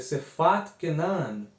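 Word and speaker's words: שפת כנען: os irmãos terem uma noção de como se pronuncia, que é Sefat Kenan, Sefat Kenan, a língua de Canaã.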